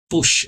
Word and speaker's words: push: Push, empurrar o botão. Tudo tem ideia de empurrar, pressionar. So, he pushes. Então ele empurra. E a pronúncia é importante. É push. Push mesmo, tá? De U. Push.